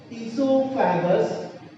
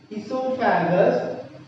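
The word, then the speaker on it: oesophagus: Second part of digestive system, that is esophagus. O is silent, students, not esophagus. Esophagus, or you can call food pipe.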